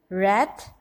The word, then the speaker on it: wrath: Second blocks में अगर देखें wrist, wrath, wrong. In these words the silent letter is W.